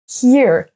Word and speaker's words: here: tout la même chose si vous mettez un H here vous dites soit entendre soit ici si vous ne prononcez pas le H vous dites oraille ear donc on a différence here ear les Français vont avoir